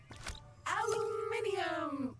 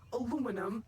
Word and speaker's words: aluminium: Aluminium or aluminum as Americans pronounce it incorrectly, but that doesn't make it any less useful.